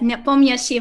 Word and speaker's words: Nepomniachtchi: That Nepomniachtchi was perfect. I do my best to try to pronounce things as they should be pronounced, but